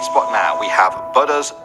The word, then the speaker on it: Buddha: spot now we have butters tooth or Buddha and no North Americans say Buddha whatever I say butter the Buddha was probably